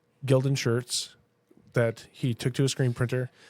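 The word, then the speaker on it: Gildan: Gilden is how you pronounce it because we have a couple and they last years.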